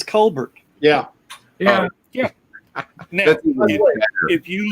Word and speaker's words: Colbert: and he was like why don't you pronounce your name colbert like it's spelled it was like because it's french and he's like are you french or are you american he's like well i'm american but i pronounce it the french ways who annoy you here